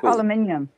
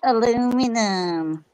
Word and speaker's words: aluminium: speak yeah it's cool it's aluminium aluminium yes yes not aluminum yeah it's not aluminum it's aluminium aluminium yeah aluminum